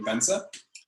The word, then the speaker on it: Bence: so my name is bense and in case anyone's wondering how to pronounce my name the secret is that the last e is not silent so it's just simply benzer i'm a junior developer